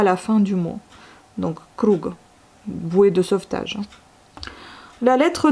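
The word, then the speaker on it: круг: Ensuite, le g il se retrouve à la fin du mot comme dans les mots ronds ou boués. En russe, c'est krug. Et vous avez encore le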